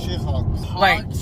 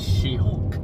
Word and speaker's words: She-Hulk: mean Charlie Cox's Daredevil she Hawks she Hawks no you pronounced it wrong she- Hawks first was jelly now she Hawks listen it's She-Hulk Say it With Me She Hulk that's what I said